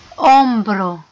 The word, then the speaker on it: hombro: El cuello، hombro، كما العادة واخا كتشوفو اتشي لابد تكتب اتشي، ولكن اتشي ما كتنطقش غنطقو او.